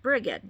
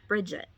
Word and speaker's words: Brigid: She specifically said, remember that I'm Brigid, not Bridget.